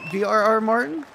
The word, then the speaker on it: VRR Martin: is that all right brr Martin oh no no no that's how you say it uh some people just